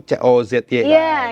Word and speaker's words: Kozi: Jadi kalau orang mikir Cozy itu C-O-Z-Y gitu. Ini tulisannya K-O-Z-I gitu.